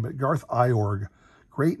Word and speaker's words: Iorg: remember the name but i've heard it pronounced it was like orange or urge i can't remember which